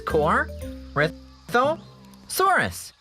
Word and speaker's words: Corythosaurus: I'm Corythosaurus. That's Cor, Rith, Dinosaurus.